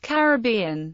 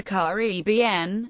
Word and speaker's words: Caribbean: The two most prevalent pronunciations of Caribbean are Caribbean, with the primary accent on the third syllable, and Caribbean, with the accent on the second.